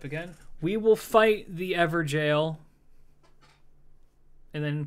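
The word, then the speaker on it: Evergaol: all right uh yes evergolds are pronounced like ever jail but I'm going to call them ever ghouls until oh there it is there goes I'm gonna call them ever ghouls until the day I die all right let's try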